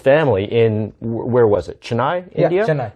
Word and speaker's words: Chennai: Chennai, India? Yeah, Chennai, yes, India. Okay. Sorry, my Tamil is rusty. No, you pronounced it really well.